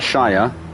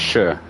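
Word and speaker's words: -shire: where it says Shire, it's not Shire, it's Sure. Sure. It is pronounced Shire, but that's way back. That's like Shakespeare times. Like now we say Sure.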